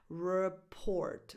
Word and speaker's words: report: The stress is on the second syllable.